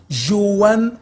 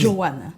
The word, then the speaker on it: Johanne: Alors, des fois, des problèmes de prononciation, là, ça se dit Joanne Omblé. Exact. Omblé. Joanne. Omblé. Omblé.